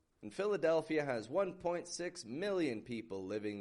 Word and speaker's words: Philadelphia: And remember, PH makes a F sound in spoken English. Philadelphia.